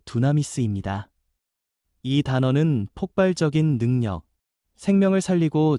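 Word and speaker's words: δύναμις: 권능이라는 말은 헬라어 발음으로 두나미스입니다.이 단어는 폭발적인 능력, 생명을 살리고 죄를 끊고 두려움을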